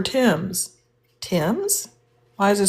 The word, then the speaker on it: Thames: I'm over there talking about why is this spelled t h a m e s. Thes river in your Oh, that's the river Tims.